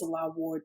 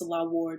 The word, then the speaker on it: Nselaa Ward: It's Nselaa Ward, but my name is spelled a little differently. The N is silent, so it's N like no, Nselaa Ward.